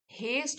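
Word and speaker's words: haste: हेस्ट होता है जल्दबाजी, और इसकी वर्ब फॉर्म हो गई हेसन्ड, तो यहाँ पे टी साइलेंट हो गया, हेसन्ड। वैसे हम बोलेंगे हेस्ट, जल्दबाजी, और हेसन का मतलब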